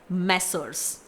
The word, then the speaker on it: Messrs.: Spelling है MESSRS, इट्स मैसर्स।